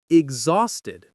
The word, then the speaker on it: exhausted: Now the end of this word is very important. It ends with ed. The sound here is Iid like the boy's name ed. Exhausted. This is different from a word like walked where the ed sounds like a t or played where it sounds like a d.